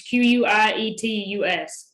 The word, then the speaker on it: quietus: quiet a speller and it might help him it's spelled just like it sounds q-u-i-e-t-u-s quietus why it is but it has a